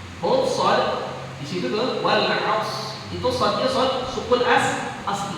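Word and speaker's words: والعصر: Nggak boleh dibaca wal asr, nggak boleh. Jadi gimana caranya supaya kita baca, ya, roknya jangan sampai ketinggalan. Agak susah loh. Jadi semua ujungnya rok. Semua ujungnya rok. Jadi dibacanya gimana? Wal aus, gitu.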